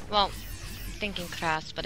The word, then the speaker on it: KrasS: anyway it's very easy it's like brass but it's cross I thought people were